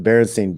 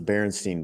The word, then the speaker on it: Berenstain: lovable cartoon bear family actually spared their last name with an a Berenstain like I always remember them being pronounced the Berenstein bears I always thought was